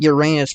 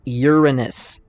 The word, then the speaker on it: Uranus: I know a lot of people like calling it Uranus for obvious reasons, but the correct pronunciation is Uranus.